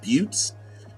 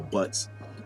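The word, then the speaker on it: butte: are other names uh butes Buu TT I think it's pronounced butes uh I don't think they're all butts um even the plant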